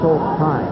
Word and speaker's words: Haseltine: And you don't pronounce the S? No. That's Haseltine.